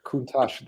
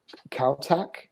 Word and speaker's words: Countach: So it's obviously play on words on MC Hammer piece, but it's basically Countach this for the Lamborghini. Yeah, and it's so funny because researching it, like in Europe, many said Countach, because apparently it's a Spanish word.